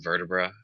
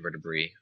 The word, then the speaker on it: vertebrae: And here you can see I'm doing some vertebrae, I should say. Or depending on your pronunciation, vertebrae. when I took Latin, it was always AE was pronounced as I, but I've heard it pronounced different ways.